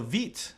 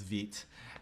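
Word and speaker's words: Vite: here for and so veet and so you'll again i think a lot of you will think is pronounced white understandably so but it's french so it's veet and uh um what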